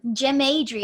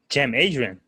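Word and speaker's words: Cem Adrian: adrian he's from turkey jim adrian yeah like it's spelled in turkish like sen like with that c and they're funny c e m and adrian okay c e m adrian yeah he's turkish but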